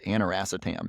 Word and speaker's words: aniracetam: It's called aniracetam. It's spelled ANIRACETAM.